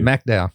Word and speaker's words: McDowell: McDowell. Okay, there we go. That's the way I pronounce it.